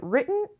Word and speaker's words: written: And the last one, easy peasy, written in stone. Written مثل button مثل scrutiny که تو تخته قبلی بود.